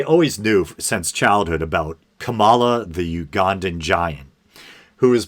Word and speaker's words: Kamala: of self-conscious here because i keep saying kamala but um people are now saying the proper pronunciation is kamala and this is going